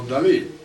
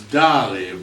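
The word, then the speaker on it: Dalí: You know, in America we pronounce Dali, but Dali was emphatic about that emphasis on his last letter, I.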